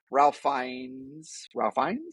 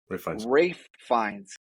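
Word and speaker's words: Ralph Fiennes: into just complete Ridiculousness Ralph fines I always say his name I always get ra fines um nah just nah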